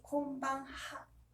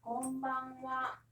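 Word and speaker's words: こんばんは: 그래서 곤방 와도 오늘 저녁 은는이기 때문에 와라고 발음합니다. 하지만 스펠링은 다 같이 곤방하.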